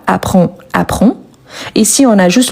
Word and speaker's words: apprend: On a le D également qu'on ne le prononce pas. Apprend.